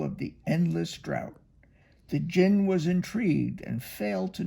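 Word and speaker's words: djinn: form of an enormous jinn a jinn is an Arabian spirit it spelled D J I and n but you don't pronounce the D his voice boomed across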